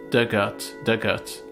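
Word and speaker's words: Dugort: Pronunciation, Dug, like the past tense of dig. Art, rhymes with earth. Dugout.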